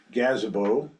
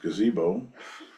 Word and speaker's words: gazebo: putting a a uh gazabo correctly pronounced gazebo at the end of